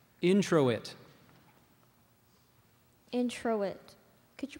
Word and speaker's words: introit: as the priest prepared to offer communion alternate pronunciations there's two so we have introit is the main one then we have of introit and intet could you pronounce all of them again please